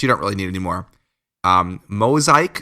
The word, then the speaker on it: Mozaik: Mosaic, it's spelled MOZAIK KNJIGA.HR.